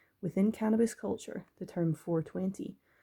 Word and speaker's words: 420: cannabis culture the term 420 pronounced like the clock time 4 20.